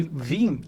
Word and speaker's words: Veeam: Mas é uma boa pergunta, porque basicamente Vim, ela vem da palavra VM, a forma que você pronuncia VM em inglês, que é VM. A fonética. Então você dá a fonética, é VM, Vim, e acabou pegando esse nome.